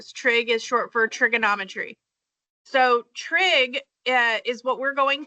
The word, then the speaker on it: SOH: Okay, so on the left side, it says SOH. Okay, so we're going to pronounce that so.